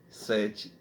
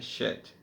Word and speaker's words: Sete: Deus no caso aqui sete que se pronuncia chet então nós vemos também